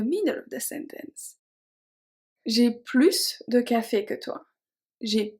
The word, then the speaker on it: plus: So technically those 2 are pronounced plus, but because of the O of ouvert and the A of agréable, we are going to pronounce it as a Z sound.